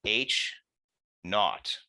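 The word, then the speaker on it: H₀: That is denoted H naught. That's how it's pronounced. H, and then the 0 is pronounced as naught.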